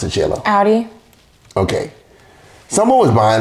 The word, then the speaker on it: Audi: How do you pronounce it, Shayla? Audi.